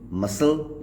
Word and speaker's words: muscle: Silent हो जाता है, जैसे कि MUSCLE मसल, इसमें एस के बाद आया है सी लेटर, तो ये साइलेंट हो जाएगा।